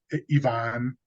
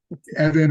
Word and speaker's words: Ivan: The director's name was Ivan. They're all pronouncing it incorrectly. That was a bit of a fun. Evan or Evian or something like that.